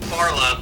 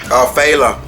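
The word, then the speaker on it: Phyla: But the thing about Farla, or Tharla, I can never pronounce her name. Phala.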